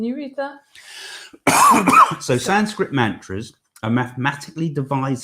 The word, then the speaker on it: mantra: Mantra. That's the correct pronunciation is mantra, and I always I get so many of the pronunciations wrong with it.